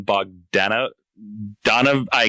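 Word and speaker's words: Bogdanove: to, and that's John Bogdanov. I can't say his last name. John Bog, as I eventually heard him. Bogdanovi, I think is how you say it.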